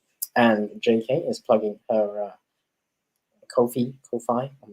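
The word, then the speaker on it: Ko-fi: their what they say how you pronounce it is is it sounds like no fee Kofi ah okay so that's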